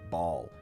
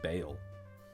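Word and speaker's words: Baal: your services maybe um it's b a a l but no apostrophe Ball but I think it's pronounced Bale horse really close really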